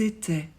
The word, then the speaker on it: étaient: I se prononce et e nt ne se prononce jamais ils étai elles étai